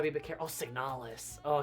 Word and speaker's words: Signalis: I put a lot of emphasis on the last part.